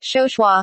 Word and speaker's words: Chauchoin: Early years Émilie "Lily" Chauchoin (pronounced “show-shwa”) was born in Saint-Mandé